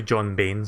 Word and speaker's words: Bain: Yeah, the last time I talked about Total Biscuit, I think I mispronounced his name. I said John Bryan. So it's actually John Bain, sorry.